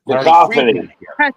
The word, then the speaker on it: Cacophony: Jason Becker, indeed, and I've showed my vinyl copy of Cacophony with Cacophony.